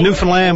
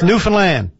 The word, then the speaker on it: Newfoundland: pronounce for me now you got a rhyme it with new with understand its Newfoundland you're from the land there you go Newfoundland aim for the land all right I got